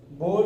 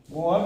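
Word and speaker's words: Bohr: Third लिखिएगा long form periodic table, बोर periodic table. मोहर नहीं भाई, बोर। बोहर में साइलेंट होता है, वरना बोहर पढ़ते लोग, उसके बाद मोहर पढ़ते।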